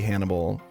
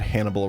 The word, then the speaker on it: Hannibal: I literally just realized that Hannibal rhymes with cannibal, and that's where the name is from.